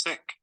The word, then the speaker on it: sick: He feels sick. Mhm. He feels sick. He feels sick. So everything is rising, strong. So say it again, Elicta. Miss Prado. He feels sick. Remember, pronounce the k at the end.